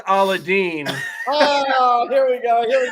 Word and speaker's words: Aladdin: well hey he Sid you should know it's pronounced aladine oh here we go